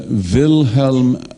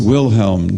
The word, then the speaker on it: Wilhelm: forward you come to vilhelm R it's hard for me not to pronounce a German name in a German way but it's Wilhelm w i l h